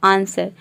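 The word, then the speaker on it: answer: यदि किसी वर्ड में एस के बाद डब्ल्यू हो या फिर एस और डब्ल्यू एक साथ हो तो वहाँ पे डब्ल्यू लेटर साइलेंट रहता है। For example आंसर। आंसर में आप देख रहे हैं कि एस और डब्ल्यू एक साथ आ रहा है, यहाँ पे केवल हम ए एन एस ई आर को प्रोनाउंस कर रहे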